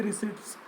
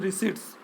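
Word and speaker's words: receipts: ना तो वहाँ ये रिसिप्ट्स काउंट होती है। रिसिप्ट्स जो है इस तरीके से इनको काउंट करना है। कई बार मैं इसको रिसिप्ट बोल जाता हूँ, करेक्ट प्रोनाउंसिएशन इज रिसिट्स।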